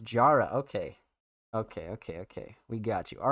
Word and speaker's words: Jara: 20, pronounced Jara.